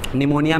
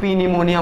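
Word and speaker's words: pneumonia: निमोनिया में 'P' silent होता है। इसे पी-न्यूमोनिया के रूप में उच्चारित न करें।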